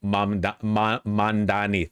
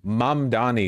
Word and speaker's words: Mamdani: They consistently mispronounce his name. Yeah, they keep doing the Cuomo Mandani thing. I feel like Mamdani is easier to say than Mandani.